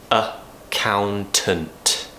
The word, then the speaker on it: accountant: section is an accountant a count int so we start with a schwa sound lots of people think